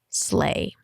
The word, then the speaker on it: sleigh: And one more word that might be confusing is sleigh. It's confusing because in the spelling, you have Leigh after an S, and it's just sleigh, sleigh, sleigh.